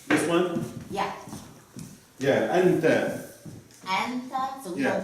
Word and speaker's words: أنت: anta, so we Yeah. don't pronounce the fatha on top. Yeah, أنت. So it's anata, أنت.